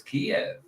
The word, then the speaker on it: Kiev: How do you pronounce it? Keev. I would say it's Kiev. I thought yeah, I don't say I don't say chicken ke.